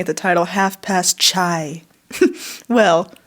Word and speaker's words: chai: as you're looking at the title half past chai well say K2 you can explain that a